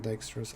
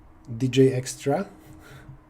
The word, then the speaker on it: Dijkstra: our unit unit edges dj extra that's a good way to pronounce dijkstra some people say the extra and i don't know which one is correct he was douche i